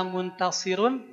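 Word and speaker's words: منتصر: Ro sukun ini awalnya ro sukunnya karena waqaf awalnya muntasirun ya. Rnya awalnya dommah tanwin dommah muntasirun sebelumnya huruf berharakat kasrah maka muntasirun aranya juga jadi tipis muntasir ya ee di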